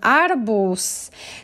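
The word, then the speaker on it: arbuz: arabus so watermelon arbos notice that even though the last letter is z i pronounce it like letters s and it's always because we like to say in pronounce things softly okay and it will be really awkward to say like to to highlight that so make it soft adabus now we have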